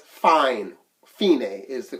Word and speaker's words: fine: on the first side where it says fine Fein a is the correct pronunciation okay this is day so that's what